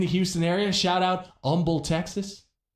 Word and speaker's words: Humble: Shout out Humble, Texas. Don't pronounce the first H.